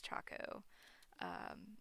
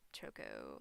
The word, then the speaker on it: Chaco: So that's why I pronounce it as Chaco, not Choco like Chocobo.